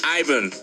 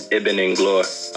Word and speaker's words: Ibn Inglor: I've been calling you Ivan. Yeah, it's a common mistake from Ivan Jasper, but yeah, like it's actually pronounced Ibn Inglor.